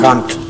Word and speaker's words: Kant: And to remind you of the verdict of a philosopher, is it Kant or Kant? Pronunciation? Kant. Kant. Kant. Kant. Yes. Kant. Kant. Kant, that's right.